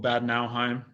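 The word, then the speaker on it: Bad Nauheim: to try to pronounce it i'd rather you pronounce it so i'm in a very small town called bad nowheim it's about 30 30 minutes from frankfurt as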